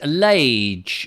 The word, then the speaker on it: Lage: We pronounce our surname like Page, except with an L, of course.